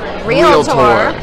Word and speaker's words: realtor: will tell you that the word is wheel tour stay with me realtor two syllables and God bless Tammy